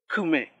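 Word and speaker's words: küme: En este caso, cuando esta vocal va después de una consonante, toma el sonido de la consonante. Por ejemplo, kume. Talaka, su sonido es ku.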